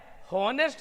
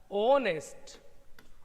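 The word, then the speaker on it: honest: पढ़ के देखते हैं इसको, इसको एच से स्टार्ट जरूर है, लेकिन इसका उच्चारण होता है हॉनेस्ट न हो के होता है उच्चारण इसका ओनेस्ट, ओनेस्ट अंदर से निकलता है, पढ़ने में कोई भार नहीं पड़ता है, ओनेस्ट।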